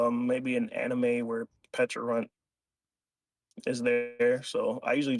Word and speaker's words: Pecharunt: Do you say Pecharunt, Pecharunt, I say Pecharunt, Petch. Petch? I used to say Peck, but I just say Petch. Mm. I don't know if there's like maybe an anime where Pecharunt is there, so I